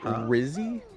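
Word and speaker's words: Wrizzy: How do you say that with the W and an R right there? It's like wrong. So like Rizzy. Yeah, Rizzy.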